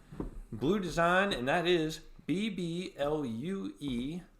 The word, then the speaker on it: BBlue: Design, and that is BBLUE, so it's BBlue, pronounced blue, design. The French pronunciation, by and the way.